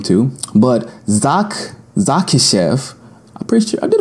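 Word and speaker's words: Dzahkishev: this name too, but Zakishev, I'm pretty sure I did a pretty good job on that. It's spelled D-Z-A-H-K-I-S-H-E-V. Zakishev sounds like a pretty accurate pronunciation of that name.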